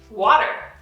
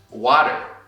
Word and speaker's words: water: Water. Water. Bottle. Bottle. Aqui o clássico flap T do inglês, que nem em português existem palavras como...